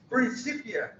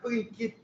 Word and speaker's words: Principia: dele no tempo dele ele pronunciava mesmo era princípia principia provavelmente com su britânico mas nunca na cabeça dele passaria a ideia de pronunciar prinia Isso é uma ideia Germânica e americana do fim do século XIX para cá bom fez